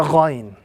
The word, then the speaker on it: Ghain: This is the letter Ghain. This letter must be pronounced with a little bit of a grating sound coming from the throat.